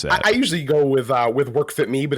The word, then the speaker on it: WorkFitMe: How do you pronounce that? I usually go with WorkFitMe, but it's kind of a play on WorkFitMe, WorkFitMaine.